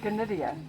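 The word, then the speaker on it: Gnidia: This little yellow bush is Gonidia. Spelled with a G like Gnu.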